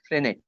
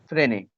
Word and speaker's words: Frenet: Frenet. Don't pronounce it Frenet. Frenet.